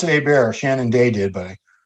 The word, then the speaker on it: Hebert: to make no Jason Hebert he was really really good hey bear they pronounce a bear Shannon day did but